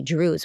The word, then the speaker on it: Druze: it like to be Drews what do you believe in by the way it sounds like Jews but it's not Jews it's Drews right it Rhymes and you speak Arabic